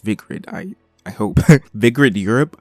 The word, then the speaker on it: Vigrid: The chapter opens with Enzo explaining to Bayonetta that he found a lead in the Vigart that he found a lead in Vigrid. Yes, it's pronounced Vigrid.